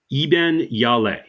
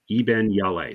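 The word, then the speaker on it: Iben Hjejle: foreign films all right so her name is pronounced e yal Eben yal yes Eben yal so it's like h j e jle e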